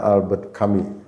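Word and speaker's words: Albert Camus: Beliau bukan dokter namanya Albert Kami. Mungkin begitulah ya. Kalau bahasa Prancis kan agak agak aneh ya. Iya. Tapi saya mencoba menyampaikan sesuai narasi atau ee apa pronunciation merekalah.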